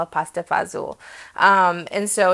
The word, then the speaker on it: fagioli: There's no Z in it, but that's how it's pronounced in most places, especially where I grew up, pasta fagioli.